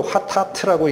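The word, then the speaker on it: חטאת: 히브리어로 하타트라고 읽는 단어입니다.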